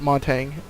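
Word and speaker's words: Montagne: have mounting or Montana I pronounce it Mon tang other people might pronounced differently so he only has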